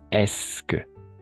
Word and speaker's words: est-ce que: Alors, attention à cette prononciation. Voilà. Estas no se van a pronunciar. Oui, es que.